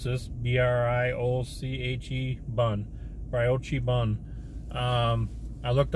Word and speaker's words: brioche: It's got bacon, American cheese, shredded lettuce, pickles, red onions, tomatoes, Parmesan, peppercorn, ranch sauce, and I don't know how you pronounce this, B-R-I-O-C-H-E bun, brioche bun.